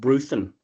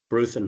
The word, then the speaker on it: Bruthen: Yeah, none of it's actually pronounced Bruthen.